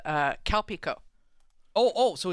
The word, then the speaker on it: Calpico: the brand and the drink is called uh calpico oh oh so it's actually so calpis is